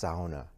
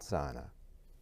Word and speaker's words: sauna: And it's pronounced sauna, not sauna.